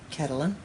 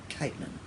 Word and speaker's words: Caitlin: So I used to say Catalan, just because I liked it. But I think it's actually Caitlin.